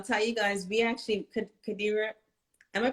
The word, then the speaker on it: Qadira: And I'll tell you guys, we actually, Qadira, am I pronouncing your name correct?